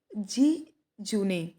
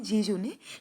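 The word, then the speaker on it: jejune: Actually जहाँ से ये डिराइव्ड हुआ है वहाँ पे ये प्रोनाउंसिएशन है इसकी जी जूने, लेकिन हम इसको जी जून भी पढ़ते हैं इंडियन प्रोनाउंसिएशन के अकॉर्डिंग। मतलब इंडिया जो है वो ब्रिटिश प्रोनाउंसिएशन फॉलो करता था, अभी तो अमेरिकन भी फॉलो करने लगा है। तो उसके अकॉर्डिंग यहाँ पे जी जून होगा, ठीक है।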